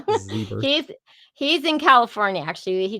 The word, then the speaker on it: Zybarth: And my friend, Christian Zybarth, Right. well, Zebarth, I keep saying it wrong. Zebert.